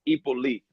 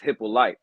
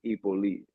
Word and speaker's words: Hyppolite: The last name is the correct way to pronounce it is Hyppolite. But my whole life I've been saying it wrong too, so no pressure. Because here in the American way of saying it is Hyppolite. But the way that we would say it in Haiti is Hyppolite.